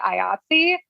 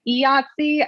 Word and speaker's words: IATSE: You know, I've heard all different kinds of pronunciations of this. I say IATSE. I've heard people say IATSE. I've heard people say YAHTZEE, like the game. So it's kind of like dealer's choice, I guess, whatever you want to call it.